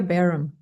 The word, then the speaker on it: Bareham: It's Barum.